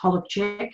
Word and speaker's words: Holowczyk: I was born Holozak, or it's pronounced Holowczyk in Polish, on the 28th of October 1969 in Sydney, Australia.